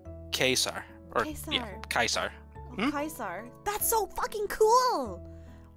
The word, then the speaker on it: Caesar: yes uh rinky is right uh Caesar is pronounced quesar or Kaiser kaisar that's so cool wow